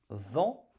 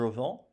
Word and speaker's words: vends: Je vends. Je vends. Voyez-vous ? Nous rajoutons un S. Un S qui bien sûr ne se prononce pas. Je vends.